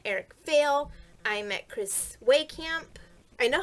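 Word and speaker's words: Wehkamp: meet I met Eric Vale I met Chris way camp I know how to say his last name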